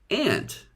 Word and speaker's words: aunt: this picture is Jerry's aunt her name is Samantha most Americans pronounce the word ant to rhyme with ant the insect most Brits pronounce it Aunt to rhyme with want however many Americans pronounce